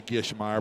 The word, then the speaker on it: Gishmeyer: bad yeah gishmeyer yeah we should say gishmeyer but we're saying we're not pronouncing the G we're we're saying what